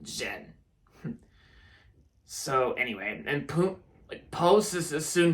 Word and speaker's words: Zhen: Teaming up with a fox, of course, with a fox played by Awkwafina, like Zhen. Yeah, that's how you say it, Zhen.